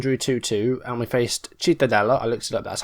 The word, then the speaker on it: Cittadella: So last time we faced Cremonese and drew 2-2, and we faced Cittadella, I looked it up, that's how you say it, 3-0 against them.